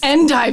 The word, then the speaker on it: endive: Week in DC and I thought when I saw that word on the menu that it was supposed to be pronounced and eBay but it was endive salad hahaha I was doing